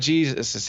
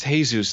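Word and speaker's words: Jesús: no he was saying my name is not Jesus hey Zeus there's no Jay in the something alphabet I I guess to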